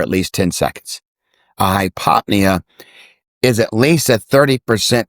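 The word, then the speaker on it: hypopnea: Hypopnia. Is that how you pronounce it?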